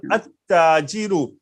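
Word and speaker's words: التاجر: So if these letters are coming after Lam, then the Lam will not be vocal. So we'll directly go to the next word, next letter. At-Tajiru, At-Thawbu, Ad-Diku. You are listening me that Lam is silent in this.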